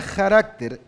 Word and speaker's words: carácter: Se pronuncia carácter aunque en inglés es character, pero está hablando de carácter.